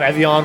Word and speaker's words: Evian: You're saying it wrong. There's no N at the end. It's Navi.